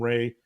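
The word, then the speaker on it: Rahe: It's called the Holmes and Ray. Ray is spelled R-A-H-E.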